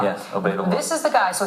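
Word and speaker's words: Obeidallah: Is that how you pronounce it? Obeidullah. Yes, Obeidullah.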